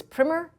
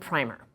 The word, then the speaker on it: primer: word and it is a word that has two pronunciations, but the two pronunciations carry two different meanings. So, the word the word is primmer and primer.